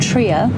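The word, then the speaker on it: Trier: head towards a place called Tria it's spelled Trio if you're English um I'm sorry we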